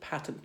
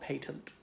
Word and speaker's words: patent: And notice people in the sector tend to pronounce it patent, not patent.